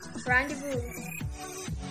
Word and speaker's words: rendezvous: There aren't many words with silent Z, except for the word rendezvous.